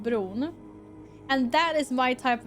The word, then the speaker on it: Bron: It's spelled like B, like Oscar said, B-R-O-N.